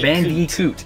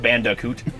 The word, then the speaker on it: Bandicoot: classic crash bandicoot so bnb that's how you pronounce it crash bandicoot bandicoot it's not banda coot how do you say it how do you